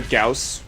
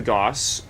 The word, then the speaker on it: Gauss: This is the Gauss Warthog, or the Gauss. You can pronounce it either way because they are both correct.